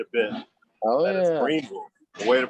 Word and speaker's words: Greenville: I've flown into Greenville before, called it Greenville, and I've been corrected quite a bit. Oh that yeah, it's Greenville. The way to pronounce it is Greenville.